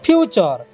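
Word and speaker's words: future: পাই চ উচ্চারণ হইছি ফিউচার দেখো টি পরে ইউ আর ই হচ্ছে সেটারে চ উচ্চারণ হছি ঠিক আছে তারপরে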